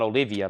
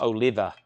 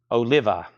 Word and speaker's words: Oliva: I used to say John Olivia, but I learned very quickly Chris and John's last name is pronounced Oliva. Oliva. I wanted to put some extra letters in there.